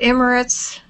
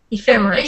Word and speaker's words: Ephemeris: Is it Emirates? Yeah. Well, Ephemeris. Yes. Ephemeris. Yes.